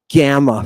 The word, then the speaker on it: gamma: You have pronunciation guides here for how do you pronounce gamma, for example. How do you pronounce it? Just like the G in get.